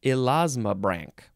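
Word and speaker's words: elasmobranch: make up this word it is elasma Brank Brank e-l-a-s-m-o-b-r-a-n-c-h which looks like Branch but it's Brank oh my God I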